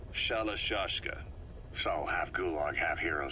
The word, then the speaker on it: Shalashashka: Someone must have known about that, because somewhere along the line, Shashka got stuck on the end of Sharashka. The guerrillas were using the name amongst themselves, and by the time I got to hearing about it, pronunciation had wound up as Shalashashka.